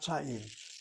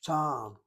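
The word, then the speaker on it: טעם: ta'am, not ta'im, ta'am. Let's get the word down on the board. Let me just making a point here. Let me try to emphasize it. The word itself, both words are spelled the same way. They are written differently. One is written with two patoks. The accent is on the first syllable. Short vowel open syllable is irregular, gets the accent.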